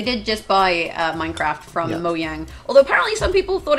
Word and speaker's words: Mojang: People were like, they said Mojang. I'm like, well, he's Swedish. Yes, it's the J is in a Y.